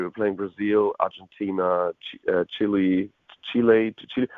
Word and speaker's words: Chile: playing Brazil Argentina Chile Chile how do you say it in English is it like Chile no yeah Chile it's chili or what all right okay